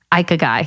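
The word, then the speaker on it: ikigai: this Jess Japanese philosophy called we're going with ike a guy cuz that's what you know the google said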